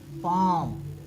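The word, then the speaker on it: palm: sorry M के पहले अगर एम के पहले एल आता है तो क्या करते हैं हम इसका उच्चारण नहीं करते इसको ना मान लेते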